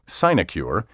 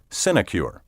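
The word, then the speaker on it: sinecure: an income or emolument the traditional pronunciation signicure is listed first in all current dictionaries but the word may also be pronounced sinicure word 42 predilection p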